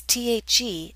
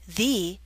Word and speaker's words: the: pronounced two different ways pronounce th e as the before a consonant sound as in the vase pronounce th e as thee before a vowel sound